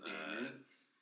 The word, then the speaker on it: daemons: It's a Discovery of Witches series, and it's this genius writer who talks about like there's like demons spelled like D-A-E, that thing. And then Daemons?